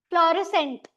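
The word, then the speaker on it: fluorescent: फ्लोरसेंट में सी और एस दोनों में से कौन सा साइलेंट है? एस। सी का साउंड स वाला है यहां पे। बिकॉज़ इ है उसके बाद। ठीक है? ई आई और वाई हमने देखा था। राइट? तो यहां पे सग एस की साउंड साइलेंट है। सी की साउंड वेरी मच देयर।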